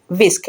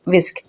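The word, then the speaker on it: whisk: बट इसमें H silent है। एच को प्रोनाउंस नहीं किया जाता। इसको बोला जाता है विस्क। डब्ल्यू आई एस के विस्क।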